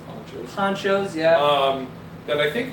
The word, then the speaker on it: Panchos: Ponchos or Panchos, it's spelled P-A-N, I guess it's pronounced Ponchos.